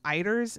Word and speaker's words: eider: So I pronounce them eiders.